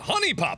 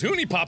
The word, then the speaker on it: HuniePop: and welcome back to honey pop apparently cuz huniepop is how idiots pronounce it well that's me so I'm gonna pronounce it huniepop from now on so I got I